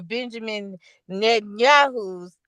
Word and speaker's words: Benjamin Netanyahu: that that they dropped over Benjamin Netanyahu's.